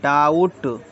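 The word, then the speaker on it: doubt: बोला सबसे पहले देखते हम बी साइलेंट बी साइलेंट जैसे हमने बोला डी ओ यू बी टी तो इसको बोलेंगे डाउट डा उट डाउट बोलेंगे बी तो रहा ही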